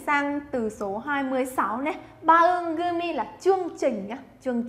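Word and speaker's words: 番組: Bangumi là chương trình nhá. Chương trình sẽ đọc là bangumi.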